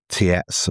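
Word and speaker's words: Tietze: Now you have to forgive me on the pronunciation, but it's Michael Tietz I think is the way you pronounce it.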